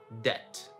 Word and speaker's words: debt: It's not debt, right? It's debt.